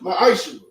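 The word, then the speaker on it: maaser: of Malachi 3: 8-10 means 10 in Hebrew and is pronounced maish 10% of every penny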